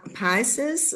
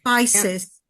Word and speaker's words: Pisces: that uh he talks about the age of pises right u pyson age of pis or pisses how do you say pieces age yeah Pisces, Pisces.